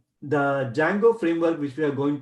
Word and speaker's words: Django: way but yeah basically the pronunciation is django with a silent d i have heard people